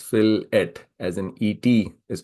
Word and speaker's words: fillet: it comes to engineering the word fillet is pronounced as filet as an ET is